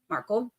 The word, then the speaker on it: Markel: professor this is Markle marel like I said I'm gonna say it wrong because I got so used to saying marle for so long before I actually heard anything I was just reading um